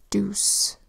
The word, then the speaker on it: deuce: It was this one here, deuce, where EU says oo, d-oo-s. Say it fast, deuce.